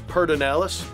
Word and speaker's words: Pedernales: we are at Pedernales Recording Studio, pronounced by most locals as Pedernales, and it's Willie Nelson's studio, and I've been working here for 21 years now.